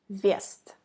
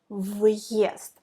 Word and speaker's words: въезд: If you omit hard sign, it will be вест. Вест. Like v plus е, ве. But if you put hard sign, въезд. You pronounce v and ye, not ве, but v, ye, въезд.